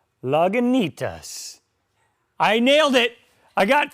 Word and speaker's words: Lagunitas: Another hard word for me to pronounce. Lagunitas.